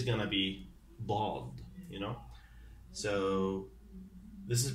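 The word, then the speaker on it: ض: Or what I could say, it just could be like a strong D.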